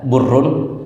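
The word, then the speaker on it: بُرّ: Kalau dibaca barrun itu artinya daratan. Kalau dibaca burrun itu artinya gandum. Kalau dibaca birrun biasa orang sebut birrul walidain. Birrun itu artinya kebaikan.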